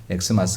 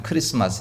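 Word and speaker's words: Xmas: 그래서 저것을 읽을 때마다 은 보시면 x 마스 가 아니라 그냥 크리스마스 라고 읽어야 됩니다 약자 로 표기하기 위해서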